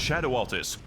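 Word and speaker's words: Scadu Altus: Welcome, everyone, to the scarred and radiant landscape of Skadu. It's pronounced Shadow Altus.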